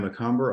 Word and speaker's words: Macomber: Uh this is uh Ryan Macomber. I I pronounced your name wrong, so I'm glad you said it. And Macomber like a typical Northeastern person.